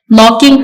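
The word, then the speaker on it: knocking: दरवाजा खटखटा रही है नॉकिंग का के साइलेंट है आपने देखा कि हमने इसकी प्रोनंसिएशन नॉकिंग एन से स्टार्ट की है नेक्स्ट ही ऑन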